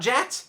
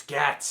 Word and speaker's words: GATS: It's not JATS, it's GATS.